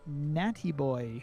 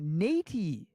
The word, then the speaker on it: Natty Boy: Oh, Natey. Natey, so matey. Natey, and I'm saying Natty because so it's like matey, but with an N instead of an M.